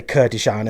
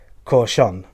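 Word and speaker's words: Kurkdjian: Now, I did used to say Kurdistan and things like that, but I've looked up on the website how you're supposed to pronounce it, and I believe it is Corchon. Okay, it's pronounced with loads of... It looks like it's meant to say Kurdistan or something like that. It's Corchon.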